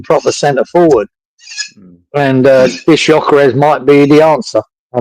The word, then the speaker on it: Gyökeres: Those two strikers were Yeah, Arsenal got Gyökeres. Gyökeres, that's it.